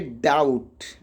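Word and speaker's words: doubt: अब टी के पहले बी है भैया तो इसको भी क्या पढ़ेंगे, डाउट।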